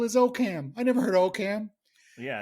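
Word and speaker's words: Oakham: i guess in oakum oh is it okam it's okam that was another how is it spelled o-a-k-h-a-m see if we screw this up we're going to get letters and like like i would look i would see that and i would say okam exactly okay it's okay even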